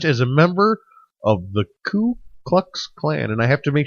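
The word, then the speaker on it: Ku Klux Klan: a member of the C cluck Clan and I have to make sure I say it right because I have a tendency to say clue clux Clan and it's that it's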